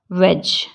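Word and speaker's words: wedge: वेज, WEDG। इसकी spelling लिखने में WEDG ही वेज है, लेकिन इसको हम बोलते हैं वेज।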